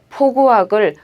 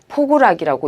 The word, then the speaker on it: 포구악: 마찬가지로 포구악을 포구락이라고 읽는 것도 틀렸습니다.